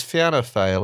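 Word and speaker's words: Fianna Fáil: that's what we need F fail and fin Gale it's fan fail isn't it yeah I still I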